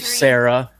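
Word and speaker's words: Cera: it's a little for Sarah or Sarah which I did not realize until I was an adult that's spelled c-e-r-a about 10 000 times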